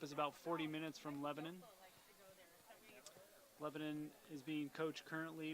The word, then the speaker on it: Lebanon: the east out of Lebanon New Hampshire well the Lebanon well us new hampshirites would say it's Lebanon but we'll forgive you for that mispronunciation since you're not from New Hampshire let me just we